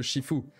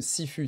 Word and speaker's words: Sifu: c'était combattre comme le Shifu. Si vous ne connaissez pas le jeu vidéo Shifu, Sifu, ça s'écrit Sifu, S-I-F-U.